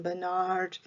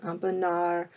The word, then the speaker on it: Bonnard: We're going to talk today about Pierre Bonnard, American pronunciation Bonnard, French pronunciation Bonnard. You may hear me do both.